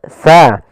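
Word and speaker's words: ث: Hati-hati dalam melafalkan huruf si karena di sini jangan dibaca kasiro. Sering terjadi kesalahan yaitu membacanya dengan kasiro dengan sin. Padahal di sini adalah huruf tsa. Untuk menyempurnakan makhraj daripada huruf tsa, kita harus mengetahui posisinya dulu. Tempat keluar hurufnya.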